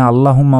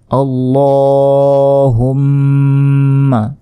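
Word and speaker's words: اللّهُمَّ: সঠিক উচ্চারণটি হচ্ছে আরবিতে আল্লাহুম্মা এই ল তে আগে আলিফ টেনে পড়তে হবে হুম এখানে গুন্না করতে হবে আল্লাহুম্মা আউতা এখানে গুন্না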